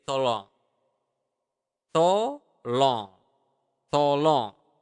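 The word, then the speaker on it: tolong: please you just say to long to long to long it's like too long but well not really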